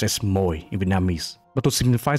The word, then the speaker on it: Mồi: This is pronounced as Moi in Vietnamese. But to simplify this, let's say this is Moi, similar to koi fish.